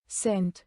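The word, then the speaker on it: scent: साइलेंट सी मॉन सी, जब एस के बाद सी आए तो सी अक्सर साइलेंट होता है। उदाहरण साइंस साइंस, सेंट सेंट।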